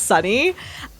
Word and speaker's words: SUNY: And I'm also tickled pink at uh how you've been pronouncing uh Sunni as Sunny.